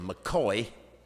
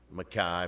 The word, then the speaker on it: Mackay: transplanted highlanders as alexander we pronounce it mccoy it's m-c-k-a-y mackay but we we still use the gaelic mccoy john smith david smith